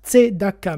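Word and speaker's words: צדקה: aujourd'hui je vais vous parler à du sujet tdaka alors que vous prononcez en France t Daka mais attention en Israël dites t Daka il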